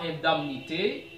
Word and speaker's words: indemnité: Quelques gens disent, prononcent indemnité. Indemnité de transfert pour Neymar. Indemnité de licenciement. Mais non, ce mot ne se prononce pas indemnité, ça se prononce de préférence indemnité.